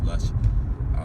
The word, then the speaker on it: Rush: Actually, it's called Rush, but it's Lush because of Japanese pronunciation and stuff.